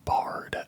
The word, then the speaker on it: barred: It was an owl called a barred owl. Almost like a bard that plays music, but it is spelled B-A-R-R-E-D, I believe.